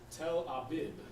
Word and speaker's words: Tel Aviv: Your Tel Aviv, it's Tel Abib, all right, or Abyab. That's how you say it in Hebrew. Now it's Tel Aviv.